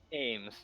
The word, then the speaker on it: Amez: How do you pronounce that? Ames.